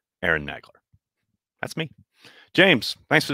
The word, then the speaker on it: Nagler: nice job with pff is your last name pronounced nagler or nagler george was saying what was he saying the former i i tell her but i don't care how you say it i say aaron negler that's how i say